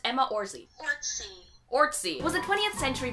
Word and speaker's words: Orczy: How to pronounce Emma Orczy? Orczy.